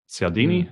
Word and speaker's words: Cialdini: It's Robert Cialdini is how you say his name, maybe.